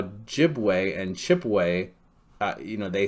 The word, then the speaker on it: Ojibwa: have chippewa e here well the french will pronounce an e like the english will pronounce an a okay the french will pronounce a b like the in english will pronounce a p the french will pronounce it j like the um english will pronounce the ch chi pe okay so chipway chipway chipwa chipwa and then the french will put a no on there ojibwa okay so that's my